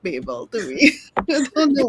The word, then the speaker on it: Babel: an English narrator it's Babel so we're just call it I guess yes bble in my head yeah you know it's it it looks like Babble and not Babel to me I don't